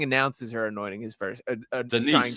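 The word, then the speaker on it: Daniss: Denise, I believe it's like the woman's name, Denise.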